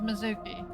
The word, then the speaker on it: Mizuki: May hold the answer that's how they've always pronounced it was Mizuki they created the name